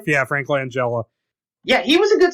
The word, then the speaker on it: Langella: um frank franklin angela is that how you pronounce his last name yeah frank langella yeah he was a good skeletor and for